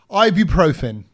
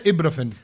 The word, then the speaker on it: ibuprofen: Ibuprofen. And I did ibu, like a view. Ibu. What Ibuprofen. is the way to say this word? Don't no say one knows. Don't say ibuprofen.